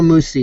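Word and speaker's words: Mucci: Vito Mush. Can't even really say that. M-U-C-C-I. Vito is his first name. Sounds like an Italian. Vito Musi is, I think, how you'd pronounce it.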